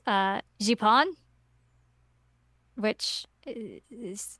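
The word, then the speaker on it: Zipang: A N G and with the accent it's pronounced uh Japon which is not even remotely really subtle that it's supposed to be Japan.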